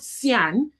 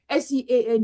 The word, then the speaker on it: Sean: me to, you know, I called Sian, instead of Sean. S-E-A-N is pronounced as Sean.